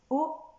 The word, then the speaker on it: haut: Le plus haut possible. Haut, attention, H muet au début. Et on n'oublie pas le T à la fin.